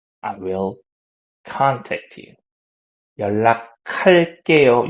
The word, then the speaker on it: 연락할게요: So 조금 있다가, a little later, 연락할게요. I will contact you. 연락할게요. You see this K sound, right? 연락할게요. Okay. So make that K sound if you want to pronounce it better.